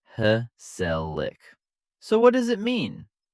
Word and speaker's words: gezellig: The word is gezellig, pronounced heh-sell-ick.